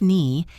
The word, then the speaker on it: knee: Let us look at the silent K. We see it in words like knife, knee, and no. You do not pronounce the K. It is not K knife, it is knife.